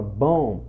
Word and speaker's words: bomb: É igual a palavra bomb, você não vai falar bomb, entendeu?